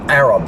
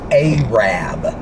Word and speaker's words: Arab: Apparently that town in Alabama is not pronounced Arab. It's pronounced Arab, which is weird.